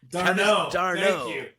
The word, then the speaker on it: d'Arnaud: was a 35-year-old Travis d'Arnaud. Thank you. I thought you were trying to talk about Sam Darnold and trying to squeak in some. I couldn't get it out. You're choking on the silent letters.